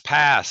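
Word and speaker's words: PaaS: ready for your acronyms again we've got SAS pass SAS that doesn't sound so good but that's how you pronounce it stas are we confused yet software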